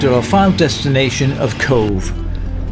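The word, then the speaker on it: Cobh: our final destination of Cove spelled c o BH but pronounced c v when I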